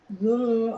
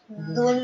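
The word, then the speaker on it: ذو: Pada pengucapan huruf dzal yang berharkat dhamah disempurnakan pengucapan dhamahnya. Dzu dimonyongkan. A'udzu dzul arsyil majid.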